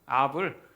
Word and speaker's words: 아합: 한글이 번역판에는 A하브라고 이렇게 주로 번역을 많이 하죠. 근데 영어로는 그냥음 아합이에요. 아합을 이제 영어식 발음으로 번역을 해서 A합라고 얘기를 하죠.